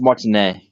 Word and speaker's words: Martinet: Also, it's pronounced Martinet.